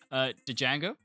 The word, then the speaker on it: Django: Django. Django, dude. The Django? It's Okay, Django do you mean Unchained. No, it's Django Unchained. yes? It's the Django Unchained. It's spelled with a D, dude.